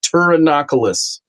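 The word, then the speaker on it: Pterinochilus: The P is, excuse me, the P is silent. T, it is pronounced Turanocus.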